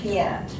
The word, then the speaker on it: Piette: the normic stuff i i had a very good friend who used to call me piety sister piety but the pronunciation is piant okay thank you so